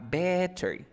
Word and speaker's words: better: Ahora me queda better. Cuando tengo una T o una D entre dos sonidos de vocales, quiero que pronuncie la T o D como una R.